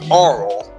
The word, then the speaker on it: Arle: Her name's actually pronounced Arle.